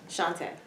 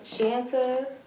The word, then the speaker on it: Shantá: I've gotten Shanta, of course. Right. Shanta. I've gotten Chantel. I don't Okay. know where the L comes from. Right. That's about it. Okay. But it's pronounced Shantá.